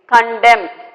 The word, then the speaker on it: condemn: Condemn, N is silent, condemn means disapprove, okay.